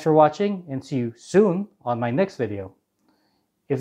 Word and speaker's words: sune: so let's get started soon is spelled s-u-n-e it originally had a swedish pronunciation but most cubers just call it soon now it looks like